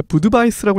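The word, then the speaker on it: Budweis: 하이타이러님이 말씀하셨듯이 버드와이저를 이제 버드와이저는 원래 부드바이스라고 읽는 게 맞아요. 그래서 체코에 이제 부드바이스 부드바르라는 맥주가 있는데 그러니까 알파벳 표기로는 완전 똑같습니다. 근데 이제 체코 방식으로 읽느냐 미국 방식으로 읽느냐에 따라서 이제 부드바이스냐 버드와이저냐 이게 달라지는 거고요.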